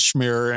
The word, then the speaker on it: Schmier: So it is the Lovable Survivor, the podcast, the main me, I guess, because my last name is Schmier and it does rhyme with mirror.